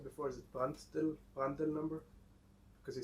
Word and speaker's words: Prandtl: Is it Prandtl number? Because you said it's how to pronounce.